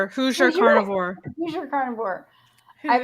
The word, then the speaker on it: Hoosier: Hosier? Hoosier carnivore.